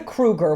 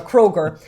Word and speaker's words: Kroger: so basically there was a kruger which is like a ralph's kroger okay i'm saying it wrong a kroger which is a supermarket